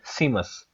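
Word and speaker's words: Saeima: answer हमारे पास है सीमस एस ई आई एम ए S spelling ये है लेकिन इसको प्रोनाउंस डिफरेंट किया जाता है तो आपने याद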